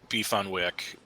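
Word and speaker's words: beef on weck: thing but in Buffalo beef on Wick it's pronounced beef on Wick what the wack is is the Kimo Wick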